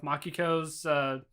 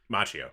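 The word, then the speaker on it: Machio: do is every now and again they'll have mock eCos Macchio Macchio's thank you I keep pronouncing his name wrong it's good that Macchio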